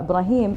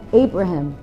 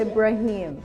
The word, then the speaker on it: Ibrahim: one thing interesting about Ibrahim is in when he used to live in America they used to call him Abraham now people are pronouncing his name properly after the show this is